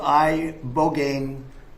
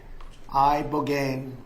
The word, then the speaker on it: Ibogaine: In 2024 study from Stanford University, 30 special operation veterans with traumatic brain injuries underwent It's called ibogaine treatment. Ibogaine. Remember the name. Is that pronounced relatively properly, would you say?